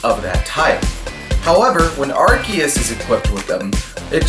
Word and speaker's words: Arceus: As you may have noticed, I pronounce it as Arceus, as that is because that is the official pronunciation according to Nintendo. However, other Nintendo media have had the name pronounced as Arceus, so the confusion is understandable.